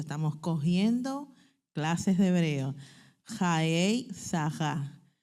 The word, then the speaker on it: Chayei Sarah: Jaei saja, no es sara sa porque la se pronuncia de esa forma.